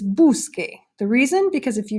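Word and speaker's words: busque: you drop the O if you just add the e then it's gonna be pronounced boo so but you don't want it to be boo so because the rivers buscar and in order to get the curse ound you need to change it to qu so it's qu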